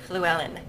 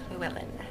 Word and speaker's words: Llewellyn: It's got that kind of Welsh, that kind of Welsh double L at the beginning, which has like an F sound to it almost. Llewellyn.